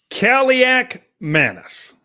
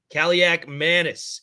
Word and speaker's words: Kaliakmanis: How do I pronounce his last name? I want to make it sure. Kaliakmanis? Kaliakmanis. Kaliakmanis.